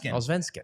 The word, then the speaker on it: Allsvenskan: The Allsvenskan? Allsvenskan.